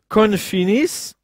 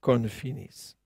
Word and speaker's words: confinis: pour découvrir qu'en latin, il faut bien le prononcer en latin, pas en français, confinis contient l'idée d'un enfermement, d'une mise à l'écart, confinis.